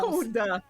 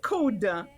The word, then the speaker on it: CODA: Comment on prononce? Coda. On dit Coda.